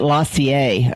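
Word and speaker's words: LaCie: but Apple compatible or Apple people usually get Lassier I guess that's the way or Lacy I don't know how you pronounce that. It's Lacy and those are a lot more expensive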